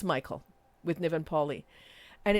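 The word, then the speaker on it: Mikhael: it Mikhail but it's Michael with Niven Paulie and it's the same kind of very his films are definitely not my cup of tea no um Catherine it is Mikhail in Malayalam oh is it Mike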